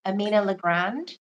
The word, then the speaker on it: Amina LeGrand: we are here today with Amina L Grand Am I saying it right Amina L Grand yes that's how you say it that's how you pronounce it thank you thank you okay so